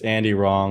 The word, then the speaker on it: Andy Rong: your brand guys official Andy wrong he is not wrong w-r-o-mw r-o-n-g a-n-d-y-r-o-n-g yes I always say like it's Andy wrong without the w there you go that